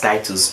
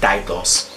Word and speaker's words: Titus: My name is actually pronounced Titus, but he always calls it Titus.